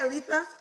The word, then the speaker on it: Alisa: Alisa.